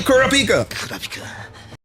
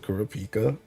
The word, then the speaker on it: Kurapika: I think they pronounce it kurupika and dub, but AJT pronouncing is right as far as JP is concerned.